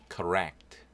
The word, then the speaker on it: correct: correct, correct, 올바른, 네, 커 발음입니다. 코 아니고요. 커 철자는 두 개이지만 발음은 그냥 한번 L이죠. correct. 그래서 이때 C는 크 발음입니다. 크 발음. 그래서 correct 강세는 여기 있어요.